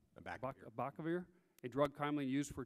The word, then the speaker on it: Abacavir: of the drug Abacavar, how to say it? Abacavar? Abacavir, a drug commonly used for treating HIV infection.